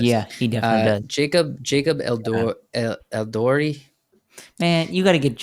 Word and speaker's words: Elordi: Jacob Eldori. Man, you got to get your name Eldori. thing. Okay, tell me how to pronounce this. Elordi.